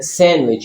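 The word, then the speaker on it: sandwich: Wednesday D सैंडविच डी जब आप dictionary कोय प्रस आपको सैंडविच बोलेंगे लेकिन य असल में सैंडविच है इसमें D silent handsome D एज D bridge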